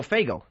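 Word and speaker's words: Faygo: No, FGO. FGO. F A Y G- O.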